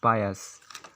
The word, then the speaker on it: pious: फिर 9 नंबर पर हम लोग का वर्ड आता है पायस, जिसका स्पेलिंग होता है PIOUS, पायस। अगर हम लोग इसको इंग्लिश में लिखने जाते हैं तो इसका होता है PA+US, पायस।